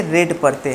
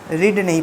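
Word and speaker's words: read: लेकिन इनका pronunciation change हो जाता है। अगर वर्ब का फर्स्ट फॉर्म होगा तो इसे रीड पढ़ेंगे, सेकेंड फॉर्म और थर्ड फॉर्म में इसे रेड पढ़ते हैं, रीड नहीं पढ़ते। तो जब यहाँ पे थर्ड फॉर्म आया है तो इसका प्रोनाउंसिएशन रेड हो जाएगा।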